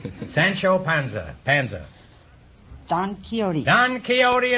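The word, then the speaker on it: Don Quixote: Panza Panza don kote don keyote is right until I was until I was 40 years old I pronounced that Dan quick squacky and I have $158.2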